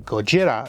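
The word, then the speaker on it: ゴジラ: Probably the most famous Tokusatsu movie of all time has got to be Godzilla, or Gojira if you're being more strict with the Japanese pronunciations, which for my channel is uncommon to say the least.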